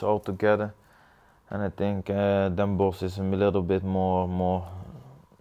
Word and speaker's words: Den Bosch: Now we're in Amsterdam right now, but you're from the Den Bosch area. Yep. Is it Bosch or Bosch? Everyone pronounces it different. It's normal in Dutch you talk Den Bosch.